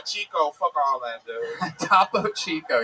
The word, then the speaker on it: Topo Chico: Topo Chico. Yes, that is exactly how that's pronounced.